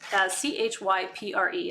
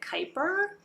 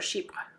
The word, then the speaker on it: Chypre: It's Chypre. A lot of people pronounce it Kuiper, but it's a French word, Chypre. So it's CHYPRE, sheep.